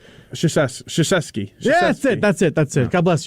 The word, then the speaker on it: Krzyzewski: Krzyzewski.